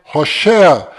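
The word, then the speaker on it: הושע: Mas a pronúncia correta de Oséias é Hoshea.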